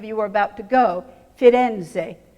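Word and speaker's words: Firenze: are about to go fitenze three syllables in Italian Florence two syllables in English the third thing that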